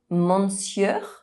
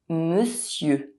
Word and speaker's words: monsieur: For example, instead of looking at the letters of this word and trying to pronounce them, maybe saying “monsieur” you'll see the actual sounds that combine to produce the word and you’ll pronounce it correctly: monsieur.